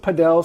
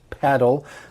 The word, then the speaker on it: padel: And some people pronounce it padel, some people pronounce it paddle.